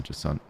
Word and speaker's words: Jusant: The T still acts as a hard cutoff for the word. Just don't get fully pronounced. Okay, so Jusant.